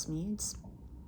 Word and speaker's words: Smedes: from Lewis B smeads I believe the last name is pronounced smeared to forgive is to